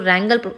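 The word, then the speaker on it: wrangle: meaning of word रंगल रंगल को प्रोनाउंस करने के लिए डब्लू रिमन साइलेंट इसको रंगल आर से प्रोनाउंस करते हो आप लोग और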